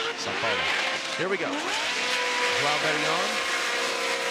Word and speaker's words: São Paulo: How do you pronounce it? Marília? São Paulo? You say Sao Paulo. Sao Paulo.